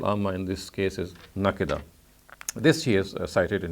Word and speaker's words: نَكِدًا: He says that some people have read the word as nakada, whereas the qira'atul amma is nakida. So in other words, he has said that even the morphological pronunciation of the word nakida is correct, is recorded by the qira'atul amma as nakida, but there are some people of Medina who read it as nakada.